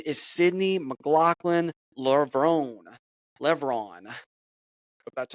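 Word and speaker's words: Levrone: her name her name is Sydney mclocklin Levon Levon that's how you pronounce it but uh she did a fantastic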